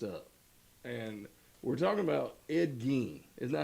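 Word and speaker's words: Ed Gein: And we're talking about Ed Gene. Isn't that how you say it? Gee. Gee. Yes, sir. Ed Gene.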